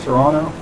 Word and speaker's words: Toronto: university of toronto toronto i guess they don't i guess cages don't pronounce the second team it's like toronto but near the university